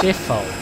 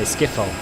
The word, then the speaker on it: Schiphol: It's pronounced Schiphol. Schiphol. Schiphol. What did I say? Skiffle, probably. Yeah.